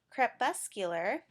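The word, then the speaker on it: crepuscular: right before I started this video in its CREP bus cooler and that means animals that are more active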